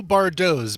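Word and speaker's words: Bardots: band called the new bardos b-a-r-d-o-t-s that t is silent but they're not fortunately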